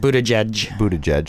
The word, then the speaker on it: Buttigieg: Buttigieg.